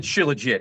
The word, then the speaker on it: Shilajit: I pronounce it Shilajit.